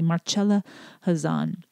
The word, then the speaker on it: Marcella Hazan: i and i mistakenly did not pronounce the c hard enough in our original conversation so i want to make sure i pronounce it correctly marcella hazan and now we're going